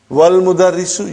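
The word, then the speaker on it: والمدرس: Then we will say, wal mudarrisu. Wal mudarrisu, you did not pronounce Hamza. Okay? Because it's Hamzatul Wasal.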